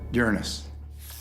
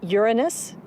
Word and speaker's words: Uranus: pronounce the planet's name uranus which is very likely closer to the original pronunciation of the name of the god after whom it was named if you think uranus